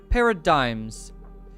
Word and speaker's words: paradigms: see what you're saying paradigms paradigms you right with the silent G uh cuz I would